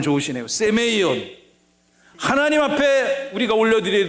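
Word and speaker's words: σημεῖον: 세메이온. 발음 좋으시네요. 세메이온.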